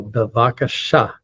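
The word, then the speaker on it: בבקשה: Most Hebrew words, not all of them, but most of them get accented on the last syllable. So bevakasha.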